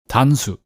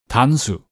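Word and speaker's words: 단수: let's start with that how do you say Atari in Korean well it's tanu one more time Atari in Korean is tanu and you may hear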